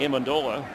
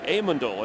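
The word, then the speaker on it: Amendola: Max Hall the backup as Danny Aandola and that's how he likes it pronounced by the way Aandola. He said if people call me Aandola I don't mind but in our family we like it Aandola.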